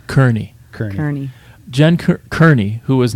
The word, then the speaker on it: Kearney: pronounce your name Kearney it's actually Kearney Kern attorney so thank you it